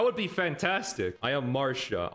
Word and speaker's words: Marcia: I thought her name was Marcia because there's another unit called Garcia. And I'm like, why is that name pronounced Garcia, but hers is Marsha? Why is her name Marcia, but his name is Garcia?